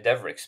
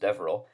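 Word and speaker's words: Devereux: Cassia well, in Wexford we say Devericks, but I know it's probably better pronounced Devereaux, but it's a kind of a Wexford thing to say Devericks.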